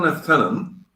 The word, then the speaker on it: lieutenant: cardamom and the second left tenon and it's pronounced lieutenant with an f in the british army